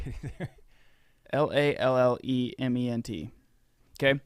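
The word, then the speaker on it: Lallemant: Lallement. Okay. Lelement.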